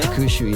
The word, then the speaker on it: Hakushu: How do you pronounce it? Hakushu? Hakushu, yeah.